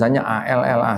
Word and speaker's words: Allah: Itu ditulis A L l ah H. Diucapkan Allah, Pak. Karena tidak ada tasdid. Jadi, pengucapannya adalah Allah.